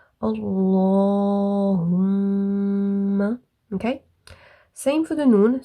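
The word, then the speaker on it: اللهم: So Allahumma, like that, okay, instead of Allahumma, okay. You must press on the meme for the duration of 2 fingers and then release the sound Allahumma, okay.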